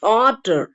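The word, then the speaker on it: daughter: ஆனா நடுவுல வரும்போது இட்ஸ் டாட்டர், டாட்டர். நடுவுல வரும்போது கா எல்லாம் உச்சரிக்க கூடாது.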